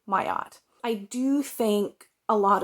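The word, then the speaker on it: Terese Marie Mailhot: that was heartberries by Theresa Marie maylott or not me a lot I used to pronounce this male hot but then on the audiobook there were two different pronunciations one from the regular narrator and one from the uh narrator of the introduction so it's either mayat or Mayo I think it's Maya so Teresa Marie mayat I do think a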